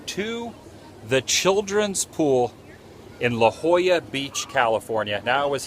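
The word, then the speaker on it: La Jolla: I actually called it Laola Beach because that is the way it is spelled. And over time, I have been corrected that this is La Hoya Beach near San Diego.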